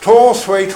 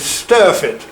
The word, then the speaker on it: Storthwaite: And you come eventually you go past Storthwaite Hall. The local pronunciation of it is Sturfit, S-T-U-R-F-I-T, but again it's a Norse name, Storthwaite, S-T-O-R-T-H-W-A-I-T-E, Thwaite.